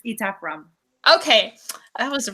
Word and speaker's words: Etaf Rum: Is it Etaf Rum? It's Etaf Rum.